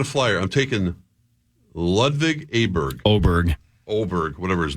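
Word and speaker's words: Åberg: Oberg, is that how you pronounce his Oberg, name? yep. Okay. Oh, Hawk's never heard of him. It's spelled with an A, but it's pronounced with an O.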